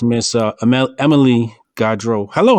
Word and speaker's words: Gaudreau: tried to she she told me how to pronounce her name immediately being the pro-head and i am i just thought you know got dro like do you got hydro hydroponics got drunk